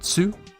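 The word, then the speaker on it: つ: Next is the second exception, tsu, like you call it tsu more fish with your sideways hook, tsu.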